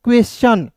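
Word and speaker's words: question: जैसे यहां पे क्यू यू ई एस क्वेश यहां पे देखिए क्यू यू। यहां पे क्यू यू है तो क्वा क्यू यू को क्या पढ़ेंगे दोस्तों? क पढ़ेंगे और इ का ए होता है और एस ट और टी आई एन को दोस्तों पढ़ेंगे च तो क्या हो जाएगा दोस्तों क्वेश्चन क्या हो जाएगा क्वेश्चन हो जाएगा इसका हिंदी हो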